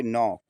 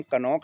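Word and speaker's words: knock: रहा है, तो हमेशा हमारा जो है के साइलेंट होगा। देखिए, एन के पहले यहां के आया है। इसको हम पढ़ेंगे नॉक। क्या पढ़ेंगे? नॉक। के एन ओ सी के। इसको हम कनॉक नहीं पढ़ेंगे।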